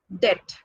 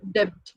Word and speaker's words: debt: The next one is debt. Again, the word, the letter B. Okay, and then many pronounce the word B as debt. It's not debt. Debt means loan. Actual pronunciation of this word is debt, not debt.